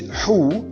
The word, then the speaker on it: who: WH in these following words are to be pronounced as who and not we. So we said who and not who.